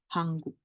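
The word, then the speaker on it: 한국: Jadi Korea tuh dia nggak ngomong negara yang namanya Korea tuh nggak, tapi nulisnya gini, Hanguk gitu.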